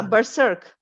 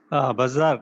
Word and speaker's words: berserk: yeah, berserk. Bazar. Actually, the pronunciation is Berserk. Bazak, na?